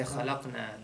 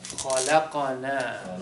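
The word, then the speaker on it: خلقنا: No, you don't want to say khalaqna. That means we created Allah. Astaghfirullah. Well, I'm saying, I try to make the alif long. So pronounce the fatha on the pronounce the fatha on the qaf.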